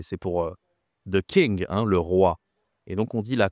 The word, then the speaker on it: roi: Le roi. Donc on dit la fête des rois. Attention ici la prononciation c'est RW. roi pas facile.